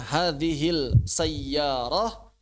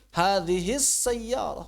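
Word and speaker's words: هذه السيارة: Pertanyaan bacanya hadil sayyarah atau hadis sayyarah? Hadis sayyarah. Kenapa hadi sayyarah? Karena idgham. Kenapa idgham? Karena dia lam syamsiyah.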